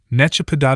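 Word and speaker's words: nechápat: Pronouncing it requires 3 consecutive cracks of the jaw, or, more exactly, the first syllable makes an attempt at holding the nut, in vain. The second syllable then tears the mouth wide open. The nut now fits inside, where it is finally cracked by the third syllable.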